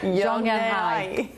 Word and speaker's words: Zhongnanhai: Zhongnanhai Yeah. Zhongnanhai There we go.